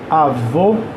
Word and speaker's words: avô: o o ovo E no caso de avô a sílaba tônica é o vô né ou V no